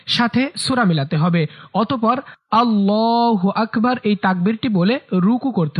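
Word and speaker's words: اللّٰهُ أَكْبَرُ: অনেকে আল্লাহু আকবার বলে। এটা ভুল উচ্চারণ। সঠিক উচ্চারণ হচ্ছে আল্লাহু আকবার। আল্লাহু আকবার।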